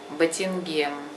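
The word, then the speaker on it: بتنجان: Называются они батингем. Батингем. То же самое говорите на из нусы кило батингем или анаиза, если женщина кило батингем, там полкило или килограмм.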